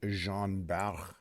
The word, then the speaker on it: Jean Bart: to play good times it is the jean bow which yeah it's too hard for me to pronounce it that way it said the Jean Bart right it's a tier